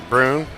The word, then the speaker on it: Brune: Is that Brune or Braun? How do you pronounce It's Brune. Brune.